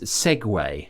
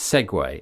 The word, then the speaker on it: segue: But I mean, Google pronunciation is, and it says very firmly that it's segway, and I think this is because it comes from Italian segway.